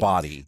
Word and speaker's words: Bodie: It's spelled like Bodie, but I think it's Body. It's Body.